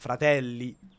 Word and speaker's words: Fratelli: Yeah, In his like Spanish accent, the inability to pronounce double letters. Fratelli d'Italia instead of not fratelli. He'll say fra. No, I gotta get this right.